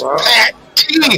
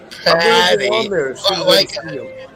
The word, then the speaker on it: Pat T: It's Pat T. It's Pat. I'm gonna go on his live tomorrow. It's called Pat T, not Patty. But hey, Ronnie, it's Pat T, not Patty, or like Pate.